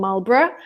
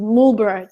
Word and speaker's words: Marlborough: to the UK first, I was in a town called Marlborough, but they would pronounce it Mulborough just for the reason, I don't know, there was no reason because they're British.